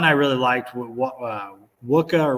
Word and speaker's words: Wacha: really liked what uh wuka or Wacha all right can never pronounce his name it's like you know Chewie Chewbacca and then I was